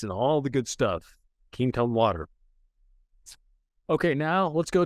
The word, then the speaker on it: Quinton: Another one is ketone water. It's spelled Quinton.